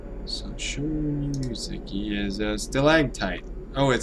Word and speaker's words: stalactite: is stalactite stalagmite and stalactite i guess i've been saying it wrong since i was a child well it's never too late to learn did anyone else say stalag tight instead of stalactite so i got 12